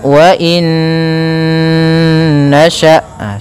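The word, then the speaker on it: وَإِن نَّشَأْ: Cara membacanya, masukkan nun yang pertama kepada nun kedua, kemudian ditahan gunnahnya, karena idgham itu memasukkan, bi gunnah disertai dengan gunnah. Maka wa in nasha', seperti itu.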